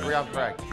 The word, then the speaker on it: Riyan Parag: Riyan Parag, is that how you say it? Riyan Parag, yes.